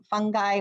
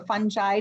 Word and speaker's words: fungi: to go over yesterday's work today's topic is fungi or fungi depending on how you want to pronounce it and then we will preview both